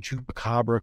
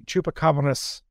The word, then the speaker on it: chupacabras: division identifies strange looking chupacabra quote unquote and it's excuse me chupacabonis there's an s on the end even when it's singular folks let's try to